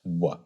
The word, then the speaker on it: vav: from the Roman period, that tradition is pronouncing it as wa. Okay. So your conclusion from the Secunda, and we'll take the letter Vav as an example, is that the Vav was pronounced wa in the 3rd century CE in